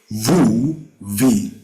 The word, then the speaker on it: mvuvi: This is very hard to pronounce, but if you can see how my mouth is moving, it's mvuvi. So you say mvuvi.